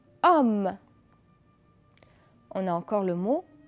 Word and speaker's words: homme: Homme. Répétez après moi. Homme. Est-ce que je prononce le H? Non. Homme.